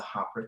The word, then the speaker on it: Hapara: and haara forgive me haara is how we pronounce it here in the states and ho is how they pronounce it over in New Zealand what we're doing